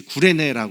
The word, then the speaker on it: 구레네: 어 사이네 사이리이를 이제 구레네 이렇게 우리 한국식으로 발음을 하는 거죠 지금도 저 도시가 남아